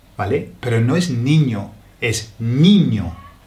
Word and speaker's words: niño: Y esas palabras nos causan problemas, porque muchas veces si la palabra lleva una I, la pronunciamos como E, como, a ver si puedo encontrar una, sí, la palabra niño, niño, ¿vale? N-I-N-O, niño. Pero un inglés, leyendo esa palabra, diría niño, nin, niño, ¿vale?